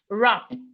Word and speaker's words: wrap: We have wrap. Wrap. The W in wrap is silent.